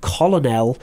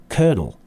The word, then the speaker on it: colonel: word there that looks like it should be colonel but the pronunciation is colonel okay so lieutenant colonel colonel brigadier and then